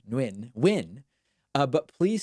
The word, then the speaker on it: Nguyen: evening Johnny and win it's just so hard for me to imagine that that's actually how it's pronounced but listen Who am